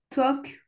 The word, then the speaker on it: talk: Prononce jamais le L. Ah d'accord. Jamais. Vas-y, essaie de me les redire. Could talk, walk.